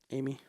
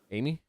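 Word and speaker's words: Aimee: Aim. I A I A A I M E. How you say that? Amy. Amy.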